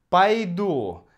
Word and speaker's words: пойду: Пойду. Конечно, здесь идет «а», потому что ударение на «у» — «пойду».